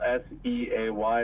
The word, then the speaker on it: Seay: it's say my last name's kind of weird but it's spell s a y it's French I know it's kind